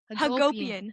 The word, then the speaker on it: Hagopian: How is your last name pronounced? Yes. Haggopian. Hagopian.